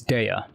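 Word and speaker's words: Dehya: How do you pronounce her name? Uh Punchy punchy catgirl is Dea. Yeah, it's Dea.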